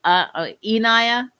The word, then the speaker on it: Enaya: My name is like, let's see, Anaya, but with an E. So it's Enaya.